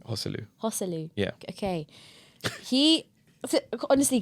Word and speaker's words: Joselu: have a question for you how do you pronounce joselu hu's name hosu hosu yeah okay he honestly because I I